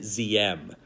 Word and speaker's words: Diem: here, is No Din Diem. Holiday, that's a D, not a Z.